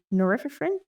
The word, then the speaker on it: norepinephrine: This was dexamphetamine, by the way, which is releasing both dopamine and norepinephrine. Am I pronouncing that right?